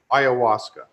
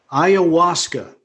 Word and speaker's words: ayahuasca: that's that's that's could you just clarify the pronunciation of that uh for us what did you call it ayahuasca ayahuasca okay well i'm i'm curious i what's what's